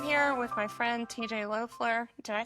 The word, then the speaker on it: Loeffler: Is it Laughafler? Yeah, it's Leler.